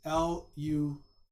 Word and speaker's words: Luka: It's Luka. Some spell it Luca, but I believe it's Luka.